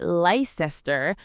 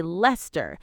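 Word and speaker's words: Leicester: You say Lester, we say Lester. You butcher British place names. We don't butcher them. We just pronounce them differently. And you say Edinboro and we say Edinburgh.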